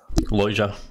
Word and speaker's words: Lojza: Lojza, as in L-O-I-J-A is close enough.